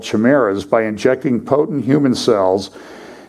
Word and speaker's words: chimeras: So far, these human-monkey chimeras is how it's pronounced, are no more than bundles of budding cells in a lab dish, but the implications are far-reaching, ethics experts say.